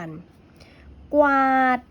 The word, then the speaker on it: กวาด: เสียง กว ควบ กัน กวาด ออก เสียง กอง ว จะ ควบ หรือ พร้อม กัน เหมือน เดิม คลาน ออก เสียง คอ